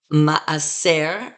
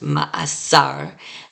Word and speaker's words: ma'aser: We have the noun ma'aser, and sometimes it's pronounced ma'asar, and the plural is ma'asrim.